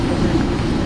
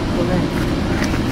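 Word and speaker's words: Belén: Proper pronunciation is Belen. Like you said it. Belen.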